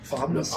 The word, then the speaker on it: pharmacie: Pharmacie. Le H, on ne le prononce pas. Pharmacie, ouais.